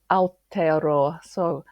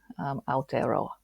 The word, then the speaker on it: Aotearoa: Actually, I'm going to need you to help me pronounce that properly, Marianne. Did I say that right? Not quite. So Aotearoa. It's the Maori name for New Zealand. Aotearoa. Bit of a mouthful. Aotearoa.